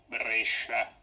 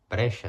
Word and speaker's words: Brescia: So it's Brescia. Brescia.